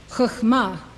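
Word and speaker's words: חכמה: This is how they are pronounced. These 9 Sphirot emanate from Keter. Chokhmah, wisdom.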